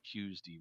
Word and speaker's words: Tuesday: and you can tell I have a bit of an old-fashioned way of pronouncing things because I say cues D rather than Tuesday Tuesday yes I am